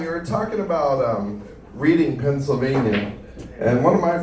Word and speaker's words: Reading: But um John, you were talking about um reading Pennsylvania, and one of my first jokes is about being from actually Pennsylvania and Philadelphia. So, I got to correct you here about this reading thing.